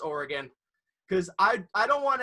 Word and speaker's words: Oregon: oregon because people here actually know how to pronounce oregon none of that oregon stuff that you got in boston and every